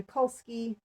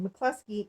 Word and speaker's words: McCluskey: wrote the story linda mikulski mccluskey sorry i'm pronouncing that wrong mccluskey is the illustrator who